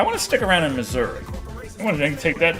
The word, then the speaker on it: Missouri: Did anyone else mispronounce Missouri as Miss Sourri or Misery as a kid?